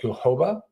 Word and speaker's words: jojoba: The organic jojoba, is that how you pronounce it? Jojoba.